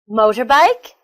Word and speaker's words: motorbike: Motorbike, underground, holiday, family. They're all 3-syllable words with the stress on the first syllable.